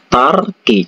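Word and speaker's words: 닭이: Jadi kalau dibaca itu bacanya itu tarki.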